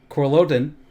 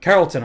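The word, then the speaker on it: Carrollton: High School in Florida uh I hope I'm pronouncing this one right number 12 is uh coron oh Carolton I'm sorry Carolton Carolton Georgia yeah in Georgia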